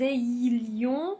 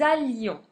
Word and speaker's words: allions: On ne dit pas que nous ayions non que nous allions.